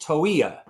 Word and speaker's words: Toia: It's pronounced Toia.